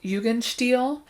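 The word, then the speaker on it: Jugendstil: vienna secession in 1900 again guys influence of yugan steel it literally means youth style it is the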